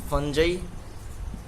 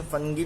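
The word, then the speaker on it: fungi: फंजाई, इसका pronunciation फंगी भी होता है।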